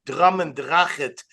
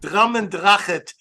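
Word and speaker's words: Drumnadrochit: I'm the only guy in America who has not only been to Drummendrachet, I'm the only guy who can pronounce the name correctly. Not correct, Zalmi? How did I do? Very good. Drummendrachet.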